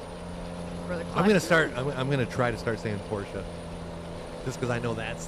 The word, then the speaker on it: Porsche: I'm gonna try to start saying Porsche, just because I know that's the right way to say it.